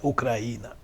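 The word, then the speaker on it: Україна: en 2010 en cruce en ucraniano que se pronuncia ucraína si ustedes ponen atención cuando se ley es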